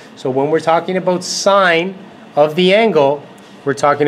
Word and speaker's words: sin: when they see this they want to pronounce that sign not sin okay please please please do not say sin when you go into grade 11 tell you Mr Mills taught me it's sign not sin okay the